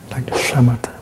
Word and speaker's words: samatha: avec votre corps et le terme bouddhiste pour "l'arrêt" c'est "samatha" en Pali, "samatha" et ceci vous le prononcez "shamatha" et la première signification